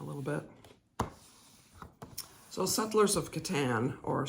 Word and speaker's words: Catan: bit so Settlers of Catan or Settlers of Catan depending on how you say it I think Katan seems to be the way most people say it just wondering where